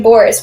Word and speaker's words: Boris: in the front hall she pronounced the name boris with a special emphasis on the o i cannot remain in